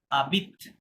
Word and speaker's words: habite: এত বা কেত, oh, et elle এল habite, আবিত, কি হবে, habite, না হাবিত না, আশ তো সাইলেন্ট বলেছিলাম, তাই না, oh, বলেছিলাম যে আশ habite, সবসময় সাইলেন্ট হবে, তাহলে পরবর্তী এটা থেকে করতে হবে।